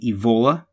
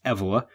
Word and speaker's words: Evola: world by Julius Evelyn I'm inclined to say his name Ebola if I say it that way please forgive me it seems from listening to some other people talking that the proper pronunciation is EV Allah so I will try